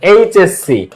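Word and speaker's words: HSC: তুমি এইচ উচ্চারণ করো, এইচ। তুমি যখন এইচ উচ্চারণ করতেছো এ আসে প্রথমে, দেখো এইচএসসি, তো এইচ উচ্চারণ করো, এইচ। এইচ, এ আসে ফার্স্টে, এ।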